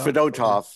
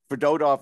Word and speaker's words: Fedotov: Fedotov. It's Fedotov. We thought it was Fedotov, but we were all wrong, of course. It's always the middle syllable. That's the rule to live by, is the accent.